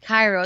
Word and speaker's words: Cairo: I know he put Cairo in Illinois, and there might be, but the way they were so empathetic about no, it's not pronounced Cairo, it's pronounced Cairo, makes me think that it's